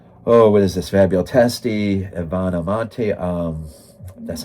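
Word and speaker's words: Ivana Monti: Fabio Testi, Ivana Monte.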